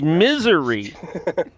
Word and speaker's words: Missouri: In Missouri. Is it? Are you The talking? the S is silent. In Missouri? I always thought it was misery.